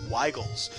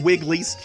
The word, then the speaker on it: Weigel's: local brewery yes yes pronounced Weigel's the wigglies is sometimes called but yes that's our